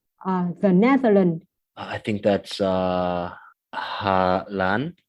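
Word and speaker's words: Hà Lan: I think that's Halan.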